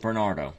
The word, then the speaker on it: Barnato: bentley's future sports car it's b-a-r-n-a-t-o i'm going to pronounce it bernardo ktm crossbow coming to